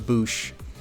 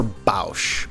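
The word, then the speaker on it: Boushh: Some people call her Bausch. By all means, let me know if I am saying her name wrong. I don't think I am. If her name is Bausch, that's gross, and I don't support it.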